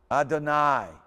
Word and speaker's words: Adonai: Here's those words that got the syllable having a sound with the IE, like in Thai. Look at it. Okay? Matai. Adonai.